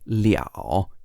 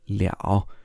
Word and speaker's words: 了: However, what makes this a bit confusing is that this character can also sometimes be pronounced liao in the third tone, liao.